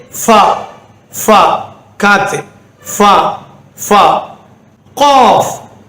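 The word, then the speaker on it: ق: Cough, cough. தொண்டையில் வரக்கூடியது cough. இது வராக்கிட்டு என்ன செய்யணும்?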